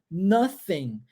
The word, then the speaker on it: nothing: A palavra nada em inglês é pronunciado nothing. E nós temos um TH aí, língua entre os dentes, correto?